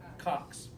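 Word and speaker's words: coxae: At the top, we've got approximately the head of the femur articulates with the acetabulum of the os cox. A is silent.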